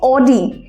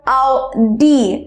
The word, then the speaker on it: Audi: সাধারণত লোকের মুখে এটাকে অডি এই নামেই শোনা যায়, বাট অডি নাম নয়, এটার প্রনাউন্সিয়েশনটা simply different. It's আউদি or আউডি, ইটস আউডি or আউডি।